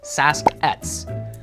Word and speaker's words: Sasq'ets: nation's word for it which is saset that's almost how it's pronounced in the helan language and we've been calling